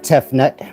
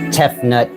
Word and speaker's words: Tefnut: But Tefnut is pronounced like the spitting sound, too.